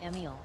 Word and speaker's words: Emil: Fake Pyrie says, how do you say Emil? Emil. Yeah, it's fine.